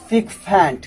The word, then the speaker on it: sycophant: Next सिकफेंट, SYCOPHANT, सिकफेंट correct pronunciation.